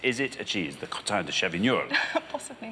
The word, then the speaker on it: crottin de Chavignol: So how do you pronounce it again? Crottin de Chavignol. No, it's actually pronounced crottin de Chavignol.